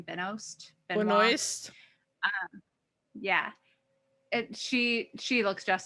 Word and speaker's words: Benoist: Benoist.